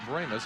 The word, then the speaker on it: Brahmas: a few others, Belleville, all pronounce it with the long A, Brahmas. So I guess it depends on where you're living. Tomato, tomato, Brahma, Brahma. But it's the Brahmas if